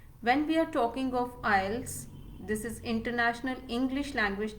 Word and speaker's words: IELTS: s first of all we don't call it i let's okay so the pronunciation of this particular test first of all is not i let's it's ielts okay so i e